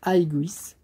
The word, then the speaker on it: Aigis: Donc ça se prononce Aiguis. Euh et ça s'écrit Aigis.